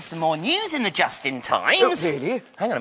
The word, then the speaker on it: Justin: get the wrapping okay my name is Justin it rhymes with Dustbin this is Justin's house